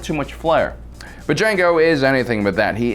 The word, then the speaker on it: Django: Django, with a silent D, Unchained, was a departure from the norm when it comes to films about the antebellum South focused on slavery.